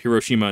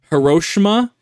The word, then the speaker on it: Hiroshima: declared over uh after Hiroshima Nagasaki which I I I I'm not kidding when I tell you that people in Idaho that have taken Japanese as a class legitimately pronounced hirosima and nagasi and that that just